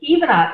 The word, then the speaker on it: Ivana: Now, you'll notice that her name is spelled like the ex-wife of our president, but she pronounces it Ivana, as she explained to me, given her heritage.